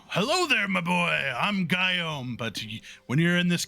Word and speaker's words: Guillaume: It's spelled like this. What a man. But like pronounce it like God, like G-Y-U, G-Y, G-U-Y. Good lord, Guillaume, like Guillaume. Guillaume.